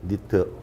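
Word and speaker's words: nit: 두 가지가 있습니다 하나는 nt 라고 쓰고 읽을 때 니트 라고 합니다 니트 두번째는 sb 라고스 구역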